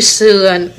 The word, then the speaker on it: sườn: Chữ sườn, sườn là sờ, ư ơ nờ ươn, sờn xương quần sườn đúng không? Là người ta nói chữ sườn.